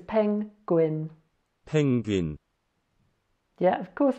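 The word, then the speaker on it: 펭귄: Oh yeah, now I need to tell you, if this circle comes at the end of a syllable, then it's not silent, it's a ng sound. So that says peng. Here we have a g, another double vowel, so we've got an U and an E, says a we, and a N to finish with. So this is penguin.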